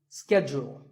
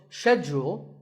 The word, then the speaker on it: schedule: in American English the is scheduled the first syllable is scat and the second is jewel scheduled in British English it can be both scheduled or scheduled so you can choose